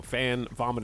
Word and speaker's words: Van Gogh: in her throat yes Van Gogh that's the English translation by the way it's too Spanish Van Gogh French Van Gogh so the correct way to pronounce it is to go fan vomit in mouth Van Gogh is just easier okay like one in